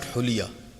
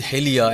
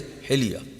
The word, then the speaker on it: hilya: But this is not huliya. This is hilya, and that's why sometimes I see this book Hilyatul Muttaqeen of Allama Majlisi. Even if people have at their home, they will always refer to it as Hulyatul Muttaqeen, and it makes sense for them because they think this book explains the hulya of Muttaqeen. While it is not hulya, it is hilya.